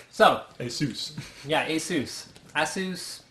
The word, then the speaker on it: Asus: Asus all right so Asus yeah ASUS ASUS as long as it's Seuss Seuss like Dr Seuss not like sus or not like Pegasus so a lot of